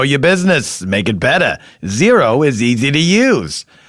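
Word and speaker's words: Xero: you'll thank me later zero it's spelled different x e r o do you know what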